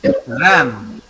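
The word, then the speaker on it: reine: How to pronounce this word? It is ran.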